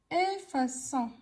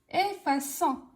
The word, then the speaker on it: effaçons: Nous effaçons. Alors ici, ça se prononce pas effaçant, mais ça se prononce effaquant. Qu'est-ce qu'on doit faire? On doit ajouter la cédille. Nous effaçons.